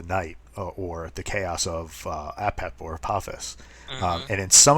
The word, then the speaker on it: Apep: The great evil of the Egyptian pantheon is the correct pronunciation is Apep. It's sometimes pronounced Apep, or it can be said Apophis.